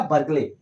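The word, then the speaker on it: Bohr: Niels बोर। यह silent रहता है।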